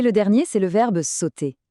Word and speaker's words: sauter: Et le dernier, c'est le verbe sauter. S au ut r. Notez bien que le e r à la fin des verbes comme celui-ci est mué. On dit simplement sauter.